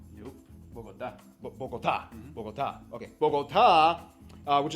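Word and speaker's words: Bogotá: Diego, did I pronounce that right? Bogota? Nope. Bogota.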